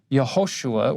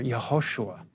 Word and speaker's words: Yehoshua: The Aramaic name, you can put either a Y or a J because they're both pronounced with the Y sound. The long form, Yehoshua, or the short form,